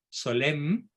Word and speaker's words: Solesmes: y un poeta surrealista rebelde reverby rebelde se pronuncia que fíjese ya converso se instala en la abadía de solesmes solem y se quedó ahí hasta su muerte en